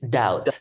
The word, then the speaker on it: doubt: pronounce D my bad so it's not do it's doubt yeah doubt yeah silent letter so it's I doubt